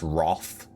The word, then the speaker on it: wrath: Like in like the word wrath, you know, w r a t h is actually supposed to be pronounced wroth even though it has an a.